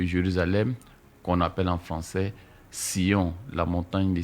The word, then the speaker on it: Sion: C'est seulement en anglais qu'on dit Zion comme on dit Jean en français et John en anglais. Donc quand vous dites Zion, ce n'est que la prononciation anglaise de son quand dit John, ce n'est que la prononciation anglaise de Jean.